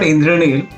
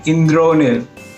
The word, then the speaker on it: Indronil: No, I'm not Indranil, I'm Indronil. But I mean, what's the difference?